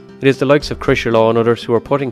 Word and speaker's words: Crosserlough: Well, we kind of say it like Crosserlough. Crosserlough.